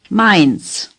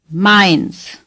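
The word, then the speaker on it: Mainz: on your map is mines say mines AI does not occur often it is pronounced as in the English word my mind's the Z is pronounced like TS mines say mines mines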